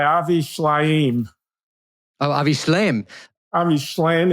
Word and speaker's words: Shlaim: Ami Schlein, is that how you pronounce it? Yeah, a Ivrit in Hebrew. I think that's how you'd pronounce it. Shleim, yeah.